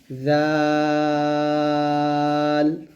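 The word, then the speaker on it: ذال: তারপর দেখুন এই জালের উচ্চারণের মাখরাজটা দেখুন, জালটা যখন আমরা উচ্চারণ করব জিহ্বাটা উপর যাতে আগে লাগাবো, জাল, এরকম।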